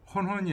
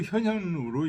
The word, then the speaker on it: 현현: 허는 당 의시작 현역 시경에는 현현으로 돼 있다는 거죠. 헌헌이 아니고. 그래서 발음도 현현으로 읽어야 된다.